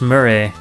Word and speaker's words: Murray: Chris Murray, Just a punk. which rhymes with furry, and Mr.